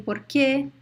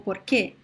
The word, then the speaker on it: porquê: So porquê is a word with 2 syllables. Por, que.